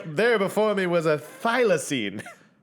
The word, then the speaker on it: thylacine: as a thylacine is that you say it thylacine i for once pronounced the word correct the first thylacine nailed